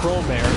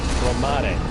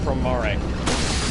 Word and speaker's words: Promare: See, now I have to correct the pronunciation because it's not Promare, it's Promare.